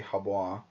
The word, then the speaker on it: Hebo: If a glass cannon needed a definition in this game, it would be Habois or Hebo or however you want to pronounce it. I say both, but he's finally, people